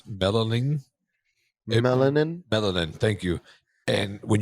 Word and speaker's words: melanin: The reason why people have darker eye colors is because I would have mispronounced this word, but it's melanin.